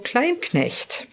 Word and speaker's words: Kleinknecht: Andrew client next I pronounced at the German Way a chiropractor speaker and